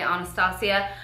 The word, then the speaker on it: Anastasia: also got me this Anastasia Anastasia people pronounce it all different I say honest hacia the Glo kit and